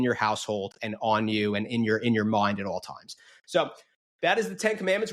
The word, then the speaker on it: Seaux: Today's show sponsor on the Frankie D'Astoli Show is So Catholic. That's spelled SEAUX.